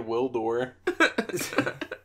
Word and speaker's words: Gwildor: I'm gonna name my kid Wildor. That'd be a rough. That'd the be G a rough, is silent. The G is silent.